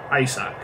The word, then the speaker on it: Isaac: Isaac. Porque es Isaac, no Isaac.